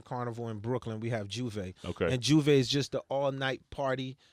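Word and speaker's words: J'ouvert: Yeah, Juve is just the appetizer. Pronounce that for me again. Juve. Juve? Yeah, like I Juve. thought it was Juve, like to open.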